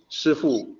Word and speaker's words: 师父: Fu Panda's master is 师父 with the SH. So they were using the Mandarin pronunciation to say the master, 师父, Dustin Hoffman's character is